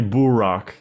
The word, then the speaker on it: Burak: It's actually Burak in Turkish, so you're pronouncing Burak.